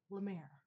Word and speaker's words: La Mer: Am I saying it wrong? La Mer? La Mer. It's La Mer.